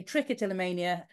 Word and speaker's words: trichotillomania: why people with trick of Tania and I pronounce it differently than UI and I say trick a till Mania um so we'll have to agree to disagree